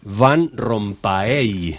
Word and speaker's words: Van Rompaey: noo se pronuncia si en puridad en la lengua flamenca ser fan con f Pero bueno estamos en el Uruguay y uno ya está acostumbrado a que se pronuncie de esa manera me parece correcto ustedes